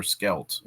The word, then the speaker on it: Scheldt: pronounced two different ways Shelt or skelt um there are some people in Holland who who pronounce it the latter way most of us pronounce it the first way so I'm going to